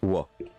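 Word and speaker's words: は: Donc note, hein, la particule ha se prononce wa.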